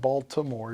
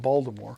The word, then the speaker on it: Baltimore: You don't say it Baltimore, you say it Baltimore.